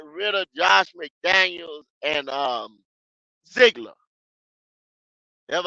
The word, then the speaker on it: Ziegler: Hey, they got rid of Josh McDaniels and Ziegler. That's how you pronounce his name.